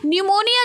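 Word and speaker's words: pneumonia: पर साइलेंट होता है न्यूमोनिया जो है इसमें भी पी साइलेंट होता है और यहां पर एन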